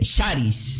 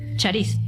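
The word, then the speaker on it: χάρις: la palabra gracia, diga, se pronuncia como se pronuncia como diga, se dice Sharis. Sharis, sí, es s, perdón, c de casa. H a con acento. R i s. Sharis. Sharis.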